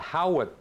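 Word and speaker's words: Haughwout: New York called the Howitt Building. It's spelled H-A-U-G-H-W-O-U-T, and I never really know how to pronounce that, but I think maybe it's called the Howitt Building.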